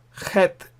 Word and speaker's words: het: Het, in Scotland, there are lakes called lochs, Loch Lomond. They have loch. So Bach, loch. So that sound is het.